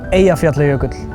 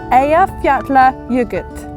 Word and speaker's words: Eyjafjallajökull: Eyjafjallajökull. Eyjafjallajökull.